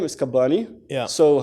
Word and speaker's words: Kabbani: Actually, my family name is Kabbani. Yeah. So how do you pronounce it?